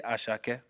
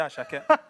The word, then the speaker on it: Asake: pronounce the name properly say asak as no don't say we a British accent say asake say go on say